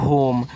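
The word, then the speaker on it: home: एम से आपका मा लास्ट वाले इ का उच्चारण हम नहीं करते हैं तो ये आपका लिखा है होम और होम का मतलब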